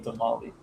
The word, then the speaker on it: tamal: It's like when people say tamale. It's tamal or tamales. Like it's Tamale. you can't just take the S off the plural and call it a tamale.